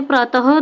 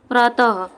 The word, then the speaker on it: प्रातः: अगर हम देखें तो जब हम विसर्ग का उच्चारण करते हैं तो उसमें ह की साउंड आती है। जैसे कि आप देख लीजिए, जैसे हमने प्रातः लिखा, जैसे हमने लिखा प्रातः, तो फ्रेंड्स जो हमारे ये विसर्ग है इसमें ह की साउंड आती है। तो विसर्ग का उच्चारण ह की तरह होता है।